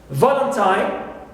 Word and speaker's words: Valentine: camera C first is stress as a now Valentine I have the first also is stressed in